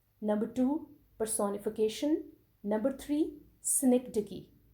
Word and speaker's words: synecdoche: Number three, synecdoche. How would you pronounce it?